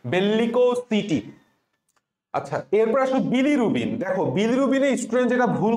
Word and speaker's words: bilirubin: ওই বিলিটা একবার উচ্চারণ না করে তুমি একটু মাঝখানে গ্যাপ দিবা, বি লিরুবিন, বি লিরুবিন, বিলিরুবিন। তাইলে আর তোমার ওই ডাবল এল নে পেঁচাবে না, কারণ উচ্চারণ করার সময়